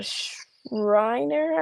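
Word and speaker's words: Schreiner: College, Massachusetts, UC Merced, and then Shriner, I think is how you say it, like Shriner University, which is in Texas.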